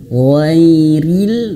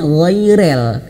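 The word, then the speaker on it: غير: Kemudian ghairil. Nah, di sini juga sama. Jangan sampai bacanya ghairel. Ghairil ya.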